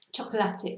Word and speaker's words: chocolate: So this is a nice word because it's spelled exactly the same as in English, just pronounced differently because we pronounce all the syllables. Chocolate, not chocolate. So cada suena cada vocal. Every vowel is sounded.